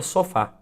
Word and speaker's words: sofá: Por exemplo, se nós pegamos a palavra sofá. Sofá! Note que a sílaba fá, ela se prolonga, ela se delonga um pouco mais em relação à primeira sílaba.